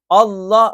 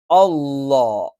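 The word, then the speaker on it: الله: മാത്രമാണ് ഈ ഉച്ചാരണം ഉള്ളത് ജലാലിയത്തിന് അള്ളാ എന്ന് ഉച്ചരിക്കുമ്പോൾ നമ്മൾ ഈ പറയുന്ന ഇതേ സ്ഥാനത്തുനിന്ന് നാവിന്റെ മധ്യഭാഗം മുകളിലോട്ട് ഉയരും അള്ളാ അള്ളാ അള്ളാ നമ്മൾ ശരിക്ക്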